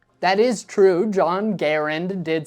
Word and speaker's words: Garand: exact reason for why people first started saying Garand instead of Garand I'm guessing just because that's how it makes more sense to read it in English Garand is the French Canadian pronunciation John C Garand was French Canadian so that makes sense but Garand is just a bit more natural for a lot of Americans to say but regardless of how